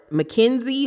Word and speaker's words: Minkzie: And on her Instagram, she has a business coming as well called Minkzie or Mackenzie, but it's spelled M-I-N-K-Z-I-E, Minkzie.